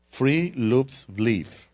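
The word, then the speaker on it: friluftsliv: que sabe noruego, pero supuestamente la pronunciación es algo así como que free loops No puedo, no puedo con eso y básicamente eso es una filosofía, ¿no?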